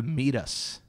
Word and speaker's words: meatus: The meatus. The and meatus. And it's spelled M-E-A-T-U-S.